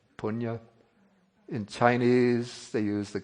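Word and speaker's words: puṇya: In Pali, we have the word punya. In Sanskrit, the pronunciation is the same, punya.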